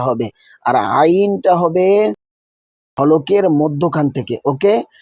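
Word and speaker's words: عين: আর যদি আইনকে বলেন আইন তাহলে কিন্তু ভুল হয়ে যাবে। আলিফ হবে টাস করে আওয়াজ। হলকে শুরু হইতে আলিফের উচ্চারণটা হবে। আর আইনটা হবে হলকের মধ্যখান থেকে।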